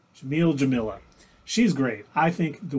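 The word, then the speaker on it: Jameela: Her first name is the same as her last name, except for there's an A. So Jamila. Jamila.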